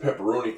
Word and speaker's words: pepperoni: that pepperoni is Italian because the I makes the e sound in Italian pepperoni is probably an